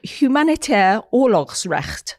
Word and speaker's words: Humanitair Oorlogsrecht: It is a Humanitair Oorlogsrecht. That's how it's said in Dutch, which is International Humanitarian Law Congress, organized by the Netherlands Red Cross.